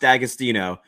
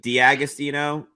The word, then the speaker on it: D'Agostino: they sell in Ohio it's pronounced dagostino um but the apostrophe throws everybody off it's is the easy way to pronounce it yep austino is it Deo yeah I think technically it's supposed to be di austino but uh I think